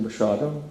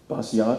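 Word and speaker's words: Basiago: wouldn't that be pronounced basiato and i said no it's polish it's slurred it's bashado and he said your birthday to andrew and i said 9 18 61.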